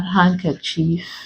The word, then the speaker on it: handkerchief: silent d you have handkerchief handsome so in these words we do not pronounce the d in them I put Soldier there